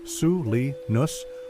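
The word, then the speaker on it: Salinan: The Selenus, pronounced Sui Nus or Selen Indians, lived in villages from its watershed to the coast.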